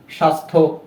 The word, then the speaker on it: স্বাস্থ্য: তো কোনো যুক্ত ব্যঞ্জনের সাথে যদি জফলা ব্যবহৃত হয় সেক্ষেত্রে সেই জফলাটির উচ্চারণ হয় না। তো আমরা সেটা দেখতে পেলাম সন্ধ্যা, স্বাস্থ্য।